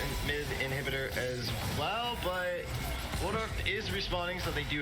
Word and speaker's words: Waldorf: Well, I think it's Waldorf. I'm trying to pronounce it correctly. Waldorf? I don't know. Yeah. Yeah, the L comes before the D.